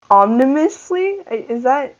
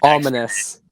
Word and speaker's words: ominous: Like Milan was saying, the build-up was really nice, and I think what for me, omnimously, that's how you say it, right? Yeah, omnimously peaceful. Ominous.